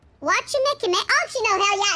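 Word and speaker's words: Wachumeqimeqi: I thought she might have reason to visit Wachimekimeki sooner or later. I said that wrong. Wachimekimeki.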